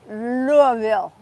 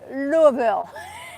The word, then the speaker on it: Louisville: my friend Autumn from Louisville Louisville apparently I say it wrong and if you relax your cheeks then it's better so she is hosting keto